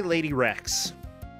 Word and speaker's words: Lade1rex: Also, I want to see if Lady, how do you pronounce her name? I say Lady Rex.